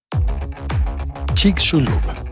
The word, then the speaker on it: Chicxulub: Chicxulub. Y al fin voy a explicar cómo se escribe. C-H-I-C. Chic. X-U-L-U-B. Chulub. Chicxulub y su población, que